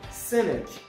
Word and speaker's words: cynic: examples the first one cynic cynic the first c is not pronounced then business business it